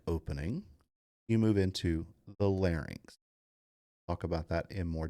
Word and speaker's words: larynx: nose, the oral cavity, the pharynx, and the larynx. This is a commonly mispronounced word.